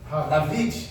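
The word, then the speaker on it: דָּוִד: E Davi, como que se pronuncia em hebraico? David.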